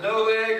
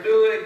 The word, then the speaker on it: Doeg: And you can pronounce it Doeg or Doeg, but it's the Edomite